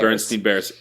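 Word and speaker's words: Berenstain: Um people are convinced that it's spelled B E R E N S T E I N. Bernstein Bears. Bernstein Bears. It's Bernstein Bears. B E R E N S T A I N.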